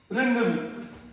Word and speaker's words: rendezvous: रेंडेवू, rain, अभी इसका जो स्पेलिंग है दैट इज RENDEZVOUS। बोलेंगे अगर शाब्दिक रूप में, जैसे हिंदी में तो जो बोलते हैं वो ही लिखते हैं, इंग्लिश में ऐसा नहीं होता।